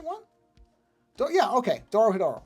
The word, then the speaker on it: Dorohedoro: I'm going to try to pronounce it correctly. It's like Dodohedro or something, isn't it?